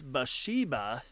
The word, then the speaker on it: Bathsheba: read in the Bible the same way you pronounce them? Well, it's Bathsheba.